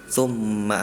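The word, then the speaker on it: ثُمَّ: surat abasa banyak tummanya itu maknya tadi dibaca terdengarnya panjang yang seharusnya pendek misal tumma amatahu faqbaro tumma ma amatahu.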